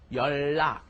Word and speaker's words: 연락: Okay, what happens is, as we've seen, you put an N up next to a lil at some point, the nian up next to a lil, and what happens? It ends up being pronounced just as a double L.